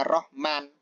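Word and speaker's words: رحمن: memakai alif lam ar-rahman kalau Alif lamnya dihilangkan bacanya Rohman Nah kalau ada Alif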